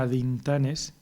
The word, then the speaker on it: atintanes: Y hay otro nombre de persona, que es atintanes, pero se pronunciaría adintanes, y lleva una terminación de caso.